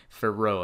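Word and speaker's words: Fiorot: that one for ray f io f-i-o-o-f-i-o-r-o-t for row i think is how that one is pronounced and the last one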